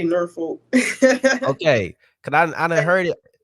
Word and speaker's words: Norfolk: is but can H how do you say it I say ner folk okay I I heard